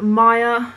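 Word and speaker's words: Maia: Next, I have Maya, and I would spell it M-A-I-A, and that means the Roman goddess of spring.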